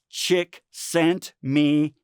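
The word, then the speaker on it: Csikszentmihalyi: chiet good luck trying to remember how to pronounce that I kind of go with chick sent me hey it makes me think of my wife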